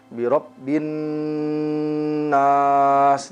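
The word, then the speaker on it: بِرَبِّ النَّاسِ: A'udzu kita baca dua harokat, birabbin nas. Di sini ada gunnah. Oleh karenanya hendaklah kita tidak terburu-buru di dalam membaca gunnah.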